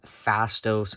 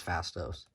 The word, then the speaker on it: Phastos: marvel legends eternals movies fastos or fastest fastos i think it's fastos i think that's how you say it he's played by